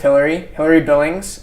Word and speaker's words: Hilary Billings: Well, I'm here with Hilary Billings.